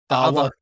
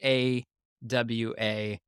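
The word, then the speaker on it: ʻawa: Ava themes. Oh, okay. It is, and for those listening, the apostrophe A-W-A is how it's spelled, but it's pronounced with a v like a Mhm.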